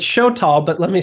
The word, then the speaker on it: Xoltal: yourself is for the podcast yeah it's it's show tall but let me spell it because it's it's a mine word x-o-l-t-a-l show tall thank you so let's just go back here